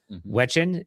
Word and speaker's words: Wigen: a call with Kaden Wigen? Is that how you say it, Brian? Wigen. Wigen? I was mistaken. All right. Like Kaden Thompson.